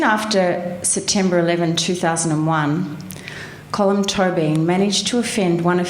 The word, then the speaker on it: Tóibín: I pronounce it Tóibín.